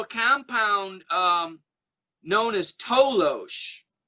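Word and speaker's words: toloache: there was also a compound um known as tolosh it's spelled t-o-l-o-a-c-h-e and that was a plant native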